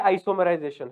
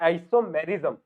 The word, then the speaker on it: आइसोमेरिज्म: अब अगला है आइसोमराइजेशन, है ना? आइसोमेरिज्म। आइसोमराइजेशन क्या बोल रहा हूं? आइसोमेरिज्म, सॉरी मिस प्रोनाउंस कर दिया, आइसोमेरिज्म।